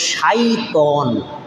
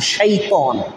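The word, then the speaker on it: شيطان: শয়তান কিন্তু অরিজিনাল শব্দটার উচ্চারণ হলো শাইতন, শিন ইয়া ত আলিফ নুন, শাইতন।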